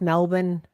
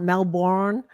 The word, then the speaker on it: Melbourne: here first of all I love that you pronounce Melbourne correctly not Melbourne like I was corrected once